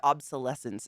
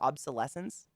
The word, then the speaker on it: obsolescence: Planned obsolescence. Is that how you say it? Is obsolescence? Obsolescence. Sounds like I'm saying adolescence.